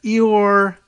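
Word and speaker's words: Ihor: follows for ukraine oligarch eor and they i guess that's the ukrainian pronunciation and spelling of igor i-h-o-r-e-hor igor kolomoiski the westin hotel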